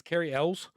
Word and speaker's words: Cary Elwes: It's Cary Elwes. Cary Elwes, yeah.